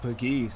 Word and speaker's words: Pegues: I've been calling him Pegues this whole season. It's actually pronounced Pegues.